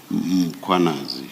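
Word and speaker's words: Mkhwanazi: The a is after the h.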